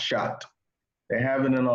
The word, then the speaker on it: chaat: On the website, it's spelled CHAAT, which is technically chat, but it is pronounced shot.